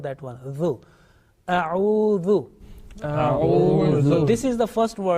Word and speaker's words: أعوذ: Okay, make sure that alif, which is at the same time becomes hamza because of fatha. Okay, hamza alif. This is only for 1 second. If we prolong that one, then the pronunciation will be wrong. So if I say it will be wrong. Now remember, the next letter